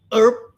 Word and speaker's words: herb: not parsley it's okay herb the H is silent so with the key